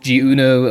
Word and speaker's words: Jeuno: But I think it's pronounced in French, so it would be Jeuno. Not Jeuno or Jeuno or Jeuno or whatever.